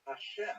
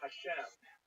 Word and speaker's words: Hashem: And the word Hashem, of course, is pronounced with the letter H, but there is no letter H in the Russian alphabet. So in order to indicate that it should be pronounced as an H, they took the letter